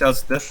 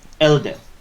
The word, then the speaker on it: Eldeth: So, it's Elspeth, right? Elspeth in pronunciation, I mean. Yeah. Eldeth. Eldeth.